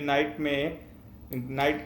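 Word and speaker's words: knight: में प्रॉब्लम है, क्योंकि नाइट का जो स्टार्ट है वो के से होता है, बट के आप देख रहे हो अर्लियर की किंग के लिए रिजर्व है, और वैसे भी के साइलेंट होता है, तो हम यूज करते हैं एन।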